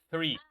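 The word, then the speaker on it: three: La pronunciación del 3, recuerda, la TH en el 3 suena como esa serpiente, right? 3.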